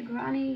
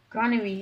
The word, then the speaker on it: granary: I'll probably have comments saying, you don't say granny, you say granary. It's a granary.